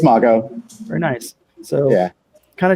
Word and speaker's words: Mago: Is that the correct pronunciation? It's Mago.